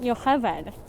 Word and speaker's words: Yocheved: Oh, in Hebrew that would be pronounced Yocheved.